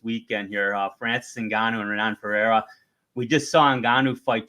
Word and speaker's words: Renan Ferreira: Well, first, don't forget, in Portuguese, the R isn't pronounced. So it's Renan Ferreira, right?